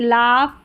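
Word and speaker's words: laugh: अब आगे है जी एच फ की ध्वनि देता है। यानी कि इसको फ भी हम पढ़ते हैं। जी एच का साउंड फ आता है कुछ वर्ड्स में।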